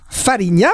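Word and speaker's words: Fariña: à voir la série falling n'ya alors il faut dire farinia parce qu'en galice à l'espagnol c'est ces mêmes à la portugaise la prononciation pour être précis c'est le top cette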